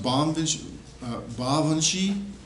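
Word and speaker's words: Baobhan Sith: Isles but we have this one it's actually pronounced bondage ba Vinci this is where our word Banshee comes from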